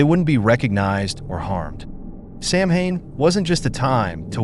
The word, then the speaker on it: Samhain: The origins of Halloween trace back to an ancient Celtic festival called Samhain, pronounced Samhain.